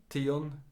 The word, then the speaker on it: tygum: It goes quite simply like tion, tion, tion, tiara. It appears the dative form took over nominative and accusative here, so all the final m's are pronounced n as usual.